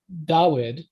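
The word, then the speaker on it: דוד: So for David, it was da wid. So that's how so it would be spelled DUD, but it'd be pronounced da-wid. And because it was pronounced da-wid, later Jews started spelling it da-wid.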